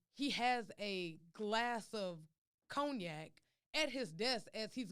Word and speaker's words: cognac: um france you know over there where they say cognac they don't even pronounce the end but you got that